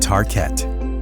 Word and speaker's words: Tarkett: covering and vinyl called tar ket the name was chosen to rhyme with Park Kent the swedish word for parquet and concerned about preserving